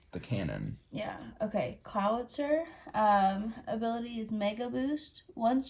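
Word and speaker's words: Clawitzer: Clowitzer. Clowitzer? Like Howitzer is the name of it. The cannon. Yeah. Okay. Clowitzer.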